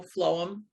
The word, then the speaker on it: phloem: into the root system I think flow flow them although it's spelled with a PHL not an FL um so that's what's